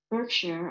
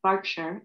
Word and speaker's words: Berkshire: car abandoned how did she get um from berkshire or as i've learned since talking to so many british people it's pronounced berkshire in england how did she get from you